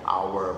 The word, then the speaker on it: hour: bumi ya one earth an hour an hour nah hour untuk jam ya one hour an hour hour itu dibacanya hour Berarti dibacanya secara huruf vokal ya.